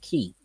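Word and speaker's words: quay: uh no it's well it sounds like that but it's pronounced key oh oh oh i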